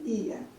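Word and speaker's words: Οία: part of the island It's written Oia, but pronounced Ia OK?!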